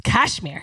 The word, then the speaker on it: Kashmire: I totally have not been pronouncing the H. It's Kashmire.